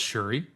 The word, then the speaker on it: Syuri: Just to make sure I got it right, and before we get a few comments saying you pronounced it wrong, it's Syuri.